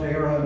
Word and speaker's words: Éireann: Ireland, pronounced Éireann Irish, and Northern Ireland, which is part of the United Kingdom.